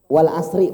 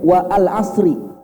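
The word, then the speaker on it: والعصر: Contoh Pak, wal asri Pak ya. Ini alif atau hamzah Pak? Alif. Kalau sekiranya hamzah seharusnya bacanya wa al asri.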